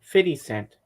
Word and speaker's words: 50 Cent: a surprise appearance no he likes to call himself fit Cent fitty instead of 50 fitty Cent 50 well that's how he pronounces it fitty well it's 50 mushrooms